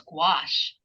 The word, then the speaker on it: gouache: And and I do squash gouache. that way I know how to pronounce it.